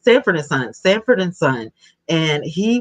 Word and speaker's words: Sanford and Son: And remember, Red Fox was always like, when he was Samson and Son. Am I saying it right? It is Sanford and Son.